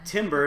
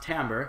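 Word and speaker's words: timbre: are music people so we know that t Timber is actually pronounced tamber uh you might want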